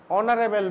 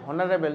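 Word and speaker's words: honourable: উচ্চারণটা কি হবে আমাদের, অনারেবল ম্যান। অনারেবল, অনারেবল মানে সম্মানীয় ব্যক্তি, অনারেবল ম্যান, সেই জন্য এন বসেছে। এবার যদি আমি উচ্চারণ করি হনারেবল তাহলে এ দিতে হতো, ঠিক আছে, এটার উচ্চারণটা হয়ে যাবে অনারেবল ম্যান।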